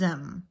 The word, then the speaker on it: aiment: All of the singular verbs for ER endings, as well as the third person plural, are going to be pronounced the same. M, M, M, M. So even though some of the endings are different, it's going to be pronounced the same. J'aime, tu aimes, il aime, ils aiment.